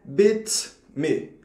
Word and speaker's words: beats me: A pronúncia correta é bit me. Bit me, do jeito que está vendo escrito aí, tanto em inglês quanto no alfabeto fonético internacional.